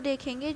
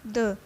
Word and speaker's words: the: अब इसको भी हम दो तरीके से प्रोनाउंस करते हैं, एक तो द और एक दी। द कब बोलना है, द हम तब बोलेंगे जब उसके आगे जो नाउन है वो कॉन्सोनेंट हो, और दी हम जब बोलेंगे जब जो आगे